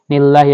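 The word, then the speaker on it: لِلَّهِ: জবর লাহা জেরি নিল্লাহি লিল্লাহি এখানে আমাদেরকে আল্লাহ শব্দটা পাতলা করে পড়তে হবে হামজা ফা জবর আফ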